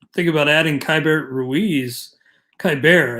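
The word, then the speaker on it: Keibert: about adding kyber ruiz kai bear i think is how it's pronounced uh kyber ruiz even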